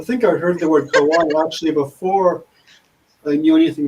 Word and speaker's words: kawaii: Hawaii. Is that how you say it? Kawaii.